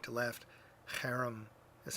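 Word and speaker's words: חרם: The harem, those Hebrew letters which you read from right to left, harem is how you say it, which is the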